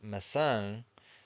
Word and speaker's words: maçã: And this word here is maçã. So we have the til, the wave on top of the a, final syllable. So we stress the final syllable.